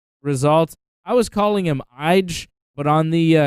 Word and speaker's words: Ige: but on the uh it's ige the guy who main evented the ufc card last night i thought it was eg eg yeah no one no one knew how to pronounce this guy's name but they were saying i gay i don't know how you get i gay from ige but hey